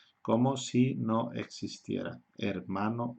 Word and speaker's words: hermano: Es muy típico en los estudiantes extranjeros cuando pronuncian la palabra hermano, brother, o hermana, sister, dicen hermano, hermano, hermana, ¿ok? Porque en la mayoría de las lenguas la H se aspira un poco, es hermano, hermana.